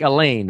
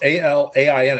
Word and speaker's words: Alain: Like Elaine, right? No, it's Alain. It's actually my name, Alan, but in France, they would normally not call anybody by, it would not be Alan. They would spell it Alain, and it's pronounced Alain.